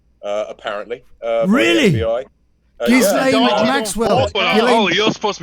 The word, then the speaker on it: Ghislaine: No, Ghislaine, which is the correct pronunciation of her name.